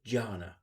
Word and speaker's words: dhyāna: So Janna in Sanskrit is spelled with a D and in parley with a J, but it has the same sound.